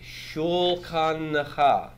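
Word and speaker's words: שֻׁלְחָנֶךָ: That's a long A with a metheg and a vocal shiva. Remember when we have a kametz or a kametz ketu followed by a shiva, the metheg tells us it's a long A and the shiva is vocal.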